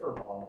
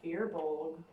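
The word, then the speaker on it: Fir Bolg: Ah, because it's pronounced Fearbolg. They can ask however I want when I'm in. This is Canada. We say furball.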